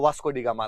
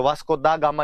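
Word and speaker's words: वास्को द गामा: ये हम हिंदी में तो डा बोलते हैं, डी बोलते हैं, इंग्लिश वाले तुम डा लिखते हो, तो वास्को दा गामा ही होता है।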